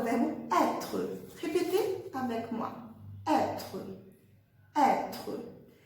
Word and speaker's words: être: Então, o verbo être, com acento circunflexo, vai fazer som aberto, être, être. E a letra E do final não é pronunciada, como a gente já viu. Então, é como se morresse na letra R, como se fosse um R mudo, né?